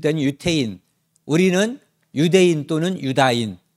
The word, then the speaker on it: 유다인: 유태인 우리는 유대인 또는 유다인 그런데 원래 발음에 가까운 것은 유다인인데 유대인으로 너무 오랫동안 익숙해졌기 때문에 유대인도 통칭해서 쓰고 있는 거죠 유다인 또는 유대인 불리는